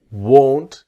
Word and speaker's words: won't: not will become won't and then won't is very different to want. This is the pronunciation part that will not is won't. If you see the mouth is small won't but want is different that this part here comes down want. Practice won't want. Here want. Okay. Won't. Want. That's the difference. So here I won't go with the t the t is silent.